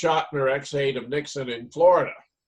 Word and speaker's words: Chotiner: He had met and worked with Mary Chotiner pronounced Schottner, ex-aide of Nixon in Florida.